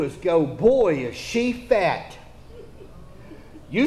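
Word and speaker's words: phat: an Old English term the teenagers have a word called p-h-a-t it's pronounced fat but that means it's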